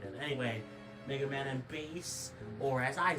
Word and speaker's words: Bass: Anyway, Mega Man and base, or as I say it, Mega Man and Bass. Okay, that's not how you say it, but it is how it's spelled, which is weird.